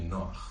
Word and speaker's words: Noach: whose name is really Noach. That's how it's pronounced in Hebrew.